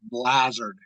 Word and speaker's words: Blazard: It's Blazard, as in hazard.